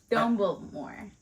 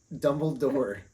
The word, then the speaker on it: Dumbledore: the last movie but you say his name wrong every single time what is it dumble more Dumbledore Dumbledore dum next movie when